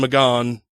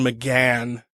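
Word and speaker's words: McGahn: think so okay anyway the guy's name I pronounced it is Don mcgon which is funny because that's how it's well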